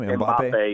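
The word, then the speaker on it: Mbappé: Is it Mbappe? Is that how you say his name? Mbappe, yeah.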